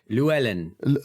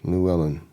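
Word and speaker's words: Llewellyn: the rain it was Luellen Luellen Luellen that's that's probably the easiest way for you to pronounce it like Louise Ellen okay Lou Ellen Lou Ellen um and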